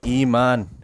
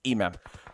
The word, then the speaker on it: Imam: and erangle let's go iman iman from better esports beautiful play beautiful headshot beautiful awm knock imam imam for some reason i pronounce his name wrong but it's imam purple needs to be